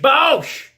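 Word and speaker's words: Boesch: pollution said Don Bosch how do you say a name that spell BOE SCH Bosch president of the University of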